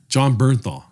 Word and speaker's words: Bernthal: get you so intense it's bernthal dude that doesn't explain anything no you need to say it correctly dude huh you need to say it correctly what is it john bernthal john bernthal thank you dude sorry i